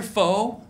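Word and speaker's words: pho: and it's delicious it's it's spelled p-h-o you ever heard of that soup yep yep when I went there the first time I go can I try your foe the lady's like it's not full it's [ __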